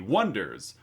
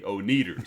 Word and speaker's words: Oneders: And they come up with the Wonders, spelled Oneders, to which everyone for quite a while mispronounces as the Oneaters, because that's how it looks like it's spelled.